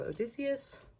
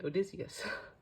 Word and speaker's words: Odysseus: Then we have Odysseus. The amount of times I've heard engines on YouTube mispronounce Odysseus, I'm like, clearly you all were